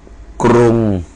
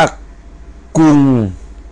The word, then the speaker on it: กรุง: เช่น กรุงเทพ นะ ครับ กรุง จะ ออก เสียง เป็น อ่า กรุง นะ ครับ อ่า กรุงเทพ นะ ครับ อ่า แต่ ตอน นี้ เขา จะ อ่าน ว่า กุง นะ ครับ อ่าน ว่า เป็น กรุง ออก เสียง กุง อย่าง นี้ นะ ครับ อัน นี้ อัน นี้ ผิด นะ ครับ จริง ๆ กรุงเทพฯ ไม่